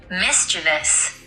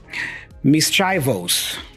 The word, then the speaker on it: mischievous: looks like and you can study the set mischievous mischievous you see so you can listen to